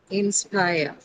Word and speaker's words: inspire: Where where is the stress in inspire? You tell me that first. Inspire. Inspire. Is it? It's inspire. So inspire. Spire is your uh uh syllable.